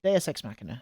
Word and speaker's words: Deus Ex Machina: we go D DSX maer there we go DSX maer that's how you say it DX smer the